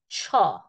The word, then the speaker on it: ছ: ছ that is চ this is এসপিরেটেড sound Choi tell almost writing মাত্রা রাইট মাই চ like before and then I am going put মাত্রা put tell on it this is দা ছ here is the pronunciation C এইচ এইচ O like we say word ছায়া অর ছেলে this is ছ good